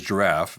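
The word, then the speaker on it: Jirav: ask the the name of the company is giraffe um but it is not spelt as you would expect it's spelled j-i-r-a-v i have to ask why that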